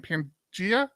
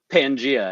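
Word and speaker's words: Pangea: you pronounce the name Pangia Pangia as in the supercontinent yes gotcha gotcha you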